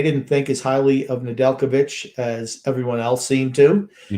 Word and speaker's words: Nedeljkovic: Nedeljkovic. Yes, that's it. Nedeljkovic. I'm always going to mispronounce his name.